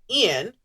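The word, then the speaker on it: Eoin: It came soon after similar wakes were seen elsewhere in the water, which Nessie hunter Ian O'Fadahagen. Ian is spelled E-O-I-N, by the way.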